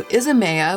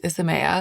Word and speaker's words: Isamaya: So Isamaya, which I've been pronouncing wrong this whole time, it's Isamaya, launched products at Sephora.